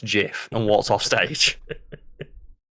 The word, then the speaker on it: GIF: culture and the internet his speech was three words long it's pronounced jiff and what's off stage